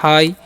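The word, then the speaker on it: high: तरफ तो लिखा हु एच आई जी बढ़ते हाई ठीक है य पर साइलेंट होता है हाई मतलब क्या होता है ऊंचा हाई मतलब ऊंचा किसी ऊंची चीज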